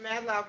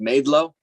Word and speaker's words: Madelo: sir okay mister mr madlow can you hear me uh yes i can hear you okay am i pronouncing your last name properly no my last name is pronounced madelo thank you uh mr